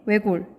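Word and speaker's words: 외곬: 자, 그 다음에 외골. 발음하면 외골이죠. 그러니까 무슨 현상이 발생하나요? 네, 리을 시옷 겹받침이다 보니까 시옷은 떨어지고 탈락하고 리을만 남죠.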